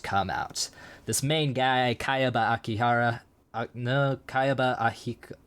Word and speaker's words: Kayaba: Kaiba? We're watching Yu-Gi-Oh? No, Kayaba.